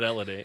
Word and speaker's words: Helody: I believe that Elodie is our first guest from Quebecois on the show ever. Did he pronounce that the correct way?